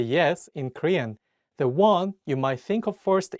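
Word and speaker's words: 왕: king in this case you don't pronounce the Ion at the beginning of the word only say the wa and pronounce the Eun at the end of the word as NG so all you need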